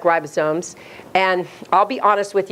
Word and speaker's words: ribosomes: not phonetic these are ribosomes and it's a long I everybody say ribosomes it is not ribosomes okay its ribosomes and I know it's not spelled like ribosomes and I'll be honest